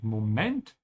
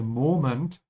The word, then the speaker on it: Moment: Notice how I'm pronouncing Moment. The emphasis is on the end. In English, you say Moment. The stretch is here. So you have to consciously work against your old habit and say Moment. Put the emphasis at the end.